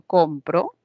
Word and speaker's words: compro: Por ejemplo, si digo compro, hay un acento, una fuerza de voz en esta sílaba.